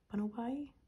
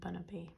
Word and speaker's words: Bunnelby: Bunnelby? I always pronounce it as Diggersby and Bunnaby, but now I think I've just done it wrong every time I've said his name.